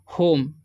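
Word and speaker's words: home: ठीक है, तो इसे पढ़ेंगे हम रिच्ड होम। ठीक है, इससे क्या हो जाएगा ह, और ओ का उच्चारण हो जाएगा ओ। ठीक है, एम से हो जाएगा म। ई का उच्चारण यहाँ पर नहीं होगा क्योंकि सेकेंड में ओ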